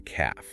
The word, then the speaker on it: calf: And the back of the lower leg is the calf. She hopefully pointed out this is also the word for a baby cow. And the L is silent.